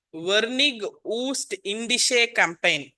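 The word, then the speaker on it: Vereenigde Oostindische Compagnie: It's called வெர்னிக் ஊஸ்ட் இண்டிஷே கம்பெயின். இந்தியாவை நோக்கி வந்த டச் பேர் அது. வெர்னிகே ஊச் இண்டிகே கம்பெனி in their Dutch pronunciation, but we will call it VOC company, also called VOC company.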